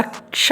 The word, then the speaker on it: क्ष: दरअसल क्ष जो अक्षर है, कक्षा का क्ष जो अक्षर है, वो क और श से मिलके बनता है। क प्लस श इज इक्वल टू क्ष। इसलिए इसका उच्चारण में क और श दोनों का उच्चारण होता है।